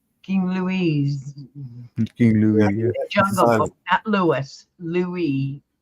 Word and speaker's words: Louis: Louise King Lou Louis Louie the S is silent Louie yes like cela's